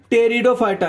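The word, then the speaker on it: Pteridophyta: अगला वाला देखो, जो हमारा एक आखिरी डिवीजन है, ठीक है, उसका नाम होता है टेरिडोफाइटा। यहां पर पी साइलेंट होता है, ठीक है।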